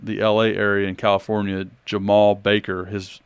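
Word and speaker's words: Jemarl: a fourstar from the LA area in California Jamal Baker his name is spelled j m a r l but you pronounce it Jamal I haven't figured out that but 6'4 shooting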